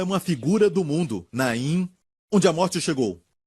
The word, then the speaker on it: Naim: se chama na impor que em hebraico se pronuncia na em que termina com m certo então naím esta cidade e foi a cidade que eu